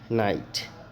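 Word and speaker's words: knight: जाएगा जैसे देख लो यहां पे नाइट के साइलेंट है नाइट उच्चारण हुआ के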